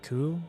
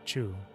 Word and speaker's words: Chu: Like instead of her name being Q or Ku, it's Chu.